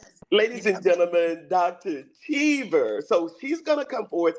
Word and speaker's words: Chever: So, my last name is pronounced chver. Like I overachiever.